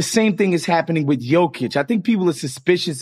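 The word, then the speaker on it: Jokić: my own suspicions of jokic i used to call him jokage because i just refused to say his name right i was like first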